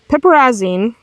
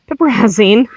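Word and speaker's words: piperazine: Pepperazzine is the go-to dewormer. I know I said it wrong. It's fine. But you can, excuse me, so pirazine is the go-to.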